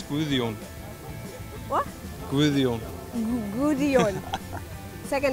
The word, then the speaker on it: Gudjon: Gudjon. Gudjon. If you want to say it in Icelandic, it's Gudjon.